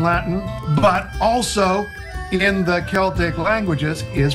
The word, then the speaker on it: Celtic: And so, while we've adjusted our pronunciation of the word Celtic when talking about music or language or culture, it should be no surprise that the two places the legacy of Celtic with a soft C live on is with